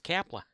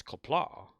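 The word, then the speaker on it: Qapla': every time he leaves he says Kapla it's kaplaw what's Kappa that's how it's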